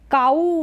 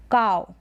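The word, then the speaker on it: cow: जैसे ये है काऊ नहीं बोलेंगे, इसको काव। प्रोनाउंसिएशन इसका ऐसे ही होगा, काव, काव, यानी आव का साउंड आएगा।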